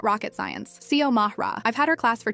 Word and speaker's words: Xiomara: My name is Xiomara. Yeah, it's Spanish. Xiomara. I get that it looks intimidating at first, but it's not rocket science. Xiomara.